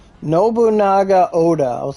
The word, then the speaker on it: Nobunaga: the summer melon event with um Oda Incognito obanaga Oda no how the do you say her name Nobunaga Oda I was like how the [ __